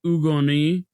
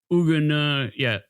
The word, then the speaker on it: Hugues de Gençay: It would It would be like It would And you wouldn't even pronounce the h. It would be like Hugues de Gençay. Okay. De And then, yeah, and then it would be like Gençay. So, Hugues de Gençay.